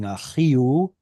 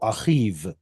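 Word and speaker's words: אחיו: So somebody dropped the vowel altogether, and instead of it being achio, like it is in Aramaic, and it simply becomes consonantal, achiv. Somebody really dropped the ball on that one. But that's the way it's pronounced now, so what can you do?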